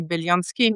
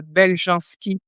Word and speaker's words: Beljanski: Évidemment, il est d'origine Yugoslave et on dit Belsky, mais euh de les les gens connaissent en France maintenant de sous le nom de Belganski prononcé à la française.